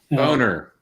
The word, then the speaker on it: Boehner: Boner. Yeah, there you go.